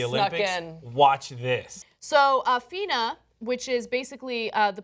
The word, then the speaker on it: FINA: range causing the discoloration the uh is it Fina am I pronouncing it right yes it's the International Swimming